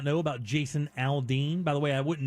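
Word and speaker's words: Aldine: It's actually Aldean, but it's spelled A-L-D-I-N-E, not D-E-A-N.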